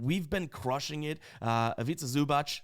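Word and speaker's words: Ivica Zubac: been crushing it uh aita zubach I can say his name now shout out to Brett who helped me a long long time ago I'll never forget that because it rhymes with pizza uh he's been crushing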